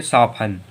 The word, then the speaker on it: soften: अब देखो SOFTEN, आखिरी में TEN आया तो फिर T साइलेंट, अगर T साइलेंट तो इसे क्या पढ़ेंगे? साफन, साफन। तो ये हो गया हम लोगों का साफन।